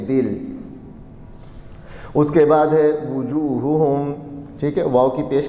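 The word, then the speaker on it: وُجُوهُهُمْ: پڑھ دیتے ہیں، نہ واو کی پیش کے ساتھ اس کو، اس لیے تلفظ بھی ساتھ ساتھ ٹھیک ہونا چاہیے، وجوہہم ان کے چہرے،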